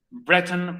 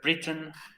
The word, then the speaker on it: Brereton: Bueno, tiene muchas pronunciaciones. Puede ser Breton, puede ser Britain. O para nosotros, el Brereton.